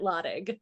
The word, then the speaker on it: Lottig: name it's my husband's their family pronounces it lotik lotik excuse me yeah it's fine